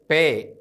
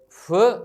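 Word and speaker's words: ܦܶܐ: ഇത് ശ്രദ്ധിക്കുക അടുത്ത അക്ഷരമാണ് പേ ഈ അക്ഷരം രണ്ട് രീതിയിൽ ഉച്ചരിക്കാം ഇതിന് ഹാർഡ് ആയിട്ടുള്ള ഒരു പ്രൊനൗൺസിയേഷനും സോഫ്റ്റ് ആയിട്ടുള്ള പ്രൊനൗൺസിയേഷനും ഉണ്ട് ഇത് കഠിനമായി ഉച്ചരിക്കുമ്പോൾ പ എന്നും മൃദുവായി ഉച്ചരിക്കുമ്പോൾ ഫ് എന്നും ഉച്ചരിക്കുന്നു ഹാർഡ് പ സോഫ്റ്റ് ഫ് ഇതിൻറെ ന്യൂമറിക്കൽ വാല്യൂ 80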